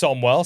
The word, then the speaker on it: Samuel: My name is Samuel, pronounced Somwell.